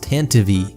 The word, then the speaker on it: Tantive: For one, you're probably going to see people in the comments saying it's pronounced Tantive, which does seem to be technically correct, but it's just silly.